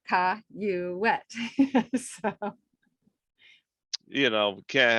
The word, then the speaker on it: Cayouette: but mine is c-a-y-o-u c-a-y-o-u-e-t-t-e but they wrote it like you sounded out Ka you wet so you know we